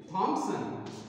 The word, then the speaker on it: Thompson: Irene, I-R-E-N-E, I-R-E-N-E, Irene, Thompson, P-H-O-M-P, Thom, S-O-N, this is the pronunciation children, Irene Thompson, so he is the poet of this poem, right?